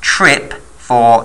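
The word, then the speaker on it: TRPV4: known as trip v4 TRP v4 often pronounced trip for TRP and then v4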